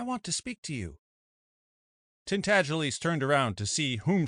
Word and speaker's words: Tintagiles: The name is pronounced Tintagiles, but as most people would not take the trouble to pronounce it correctly, they called him Miggs for short.